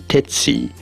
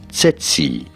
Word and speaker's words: tsetse: as Google reference these pronunciation tetsi however the Merriam-Webster dictionary for example references this pronunciation as setsi the middle one on your screen setsi but many people including particularly perhaps in the United States pronounce it as sitsi Siti the right one on your screen so three different ways all seem to be correct tetsi tetsi and titsi